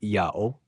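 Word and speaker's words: Ιαω: Em grego, ya tem duas sílabas e é pronunciado yao, correspondente ao hebraico aramaico Yaho.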